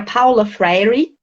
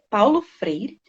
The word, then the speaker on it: Paulo Freire: Então era Paula Freire, daquele jeito de se falar, até eu engasguei, Paulo Freire.